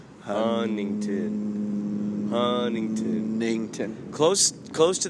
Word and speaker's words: Huntington: local is called Huntington they don't pronounce the T hunington Huntington hington close close